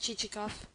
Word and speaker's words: Chichikov: Excellent, but not what I want, pronounced Chichikoff.